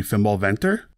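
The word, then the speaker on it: Fimbulwinter: tank by the way my norse friends tell me that the closer way to pronounce this would be fimbal venter i also found out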